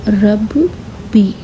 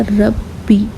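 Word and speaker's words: رَبِّي: तो ये कैसे पढ़ेंगे हम, रब बी। तो अगर तीनों को एक साथ मिलाकर हम पढ़ेंगे तो ये हो जाएगा रब्बी। तो आप इसे प्रोनाउंस करेंगे रब्बी। इसे डबल पढ़ना पड़ेगा।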